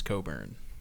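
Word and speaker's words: Cockburn: But you still didn't know it was Coburn. True. I would have never in a million years looked up the pronunciation guide for Kofi Coburn because the spelling seemed pretty straightforward.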